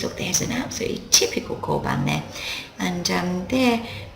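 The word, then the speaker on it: 交番: Ko plus bang equals koban, and that's a police box.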